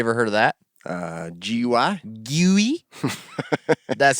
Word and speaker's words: GUI: GUI?